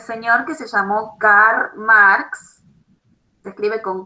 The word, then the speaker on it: Marx: Esta historiografía entonces va a ser creada por este señor que se llamó Karl Marx. Se escribe con K, K-A-R-L-M-A-R-X, Marx, y otro señor